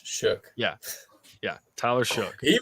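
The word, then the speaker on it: Shough: shook yeah s h o u g h shook yeah yeah Tyler shook he was he was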